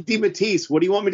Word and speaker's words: DeMatteis: scott edelman cullen bunn thomas snagaski and j.m dimattayus did i say it right this time you did you did yes thank god only took you 152 episodes well listen you know i'm saying di matisse what do you want me to say i've